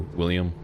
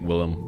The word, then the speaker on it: Willem: He knows, did you know he knows by the pronunciation of Willem or William? Yeah, I always said, I think Willem, but yeah, it goes by both.